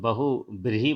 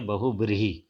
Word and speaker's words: बहुव्रीहि: यहाँ बहुब्रीहि का उच्चारण आप लोग ध्यान रखिएगा क्योंकि बहुत से लोग बहुब्रीहि बोलते हैं जबकि ये है बहुब्रीहि।